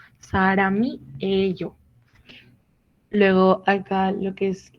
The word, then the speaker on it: 사람이에요: Aquí de la misma manera, pues la M que está en este caso se combina con la I que sigue. 사람이에요.